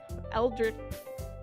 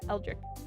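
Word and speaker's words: eldritch: I know what Elrich Eldrich Elri Yep, that is how you say. Eldrich horror is eldrich.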